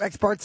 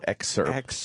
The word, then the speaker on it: excerpt: Experts are important to hear them talk. No, excerpt. You're saying it wrong, stupid.